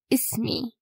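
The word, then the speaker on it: اسمي: So, ism with the E at the end, it will be ismi.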